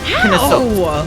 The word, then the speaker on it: Knossos: The way you actually pronounce it is Knossos. Is how you say it.